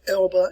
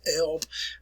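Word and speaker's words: Elbe: you arrive at the elba river that's where it's pronounced here folks you can see it right here it's elba not elves in german we always pronounce the last e elba river uh pretty good-sized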